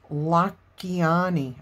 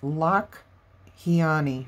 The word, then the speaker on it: Lakhiani: It's called The Code of the Extraordinary Mind by Vishen Lakhiani. I said it wrong last time. It's Lakhiani, I believe is how you say it.